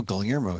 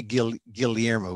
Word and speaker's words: Guillermo: And the Filipinos say the double L's Guillermo. I know I'll be saying this for most of my life. We say Guillermo.